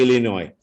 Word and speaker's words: Illinois: when uh you know people pronounce s in the Illinois so welcome to India